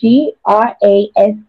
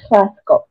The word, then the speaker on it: Graskop: Graskop is an Afrikaans word. It's Graskop. Graskop. Graskop.